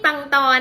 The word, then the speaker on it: ปังตอ: ปังตอ นะ คะ และ ใน ภาษา จีน กลาง ค่ะ ออก เสียง ว่า ใช่ เต่า คำ ถัด ไป ค่ะ คำ ว่า